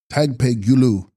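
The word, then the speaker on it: Dag-pahi-sgyu-lus: Text: Dagpahingulas, pronounced Tagpegulu, pure or shining illusory body, Sanskrit Maya Rupa.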